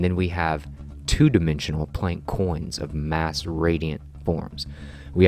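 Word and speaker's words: quins: shape the equilateral triangle we term these triangles coins plank coins we spell that qu i ns and these plank coins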